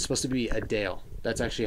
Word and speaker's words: Adele: It's supposed to be Adele. That's actually how you pronounce Adele.